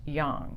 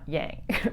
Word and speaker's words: yang: and yang symbol and it's actually pronounced young not yang if we look at